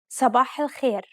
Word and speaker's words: صباح الخير: صباح الخير. Did you pronounce these emphatic consonants correctly? Remember, to produce a dark consonant, build up pressure at the point of contact and constrict your throat.